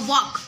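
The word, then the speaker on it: walk: और वॉक, वॉक okay उसमें एल नहीं सुनाई देता, तो जो एल है वो साइलेंट हो जाएगा।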